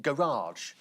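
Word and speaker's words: Farage: He says, oh, well, it's just like, where do you park your car? It's pronounced the same way, as in garage.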